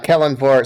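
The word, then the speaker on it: Kelemvor: name tags you can tell us how you pronounce kilimore uh kellen vor so you know the woman sees the sim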